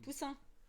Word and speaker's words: poussin: Poussin.